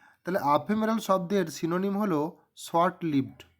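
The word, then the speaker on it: ephemeral: নিয়ে আলোচনা করি চুজ দা সিনোনিম অফ আফেমেরাল উচ্চারণটা এখানে করবেন আফেমেরাল আফেমেরাল শব্দ এর কি সমার্থক শব্দ এখানে আছে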